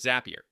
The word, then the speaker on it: Zapier: That makes it clear that the word should rhyme with happier. You can build no-code automations with Zapier.